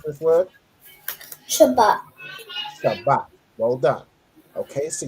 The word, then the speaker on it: Shabbat: How do you pronounce this word? Shabbat.